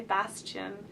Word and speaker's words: Bastien: And this is a name I really like in the French pronunciation, but you could also say Bastien, and it could be